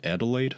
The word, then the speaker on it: Adelaide: Is that how you say it? Adelaide? Yeah, Man, Adelaide's the city.